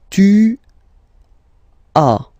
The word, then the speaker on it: as: Second one, tu as, okay. As usual in French, final S is not pronounced. Tu as. Tu as.